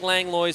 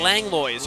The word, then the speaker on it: Langlois: with Jake's last name Langlois pronounce Lewis on that I would have thought